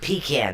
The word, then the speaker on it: pecan: When we traveled, I love pecan pie, and I even say it like that. Pecan. It's not pecan, it's pecan. Pecan.